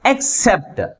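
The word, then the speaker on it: except: ఈ ఎక్స్ తర్వాత సిలబుల్ ముందు ఉంచాలి ఫర్ ఎగ్జాంపుల్ ఎక్సెప్ట్ ఎక్సెప్ట్ అంటే దీంట్లో ఎన్ని సిలబుల్స్ ఉన్నాయి టూ సిలబస్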